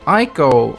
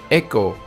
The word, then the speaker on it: Eiko: in the game and although I pronounce her name as I go it is actually pronounced echo in Japanese and I hope I